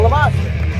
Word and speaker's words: La Mosha: Because I only know La Mosha. Well, it rhymes with La Tarka, Lucha Libre legend.